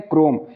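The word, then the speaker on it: Chrome: Next rule हमारा ये है कि जब किसी वर्ड में सी एच के बाद आर आए तो सी एच को क से पढ़ते हैं। यानी सी एच का प्रोनाउंसिएशन क के रूप में होता है। इसके एग्जाम्पल लेते हैं, क्रोम, सी एच आर ओ एम ई, क्रोम। सी एच के बाद क्या आया है, आर आ गया है।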